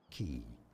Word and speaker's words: quay: Key. How do you say quay? How to pronounce? I think it's key.